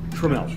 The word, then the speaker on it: Tramiel: Is it Tramiel or Tramiel? Tramiel. Tramiel, okay. Yeah. Rhymes with Dudwell.